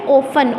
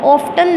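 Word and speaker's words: often: का मतलब होता है अक्सर इसको अपने पढ़ना है ओपन ऑफ्टन नहीं पढ़ना पति साइलेंट एप 155 इट इज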